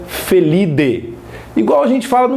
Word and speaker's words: Felidae: Por exemplo, e outro detalhe, Idae, em latim, o A e o E tem som de E. Então você não pronuncia Felidae, você pronuncia Felidae.